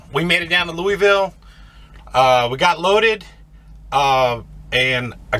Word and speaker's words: Louisville: So we're gonna make our way down to, and somebody said that I pronounced Louisville wrong. It's Louisville.